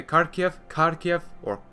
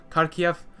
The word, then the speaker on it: Kharkiv: Some might say Kharkiv, but Kharkiv, Kiev, Odessa, Thunder and Lightning, and the Zolov Battalion as well as the 302nd-3rd Idar Division.